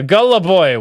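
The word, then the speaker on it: голубой: on for five dollars blue in Russian is pronounced uh Gullah boy which also means gay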